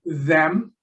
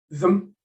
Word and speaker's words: them: the Cambridge Pronouncing Dictionary, it has the strong form them and various weak forms. You've got them, but you may have the M without a vowel, a syllabic M, them. Or occasionally the is dropped altogether, so you get So